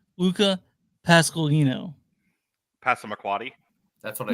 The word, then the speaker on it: Luca Pasqualino: His name is pronounced Luca Pasqualino.